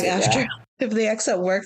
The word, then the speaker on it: SAG-AFTRA: Like if they accept work from SAG-AFTRA, like SAG-AFTRA, that's how you can pronounce SAG-AFTRA.